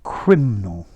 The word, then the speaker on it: criminal: see this word criminal you went criminal and you need an extra syllable in there criminal criminal nothing criminal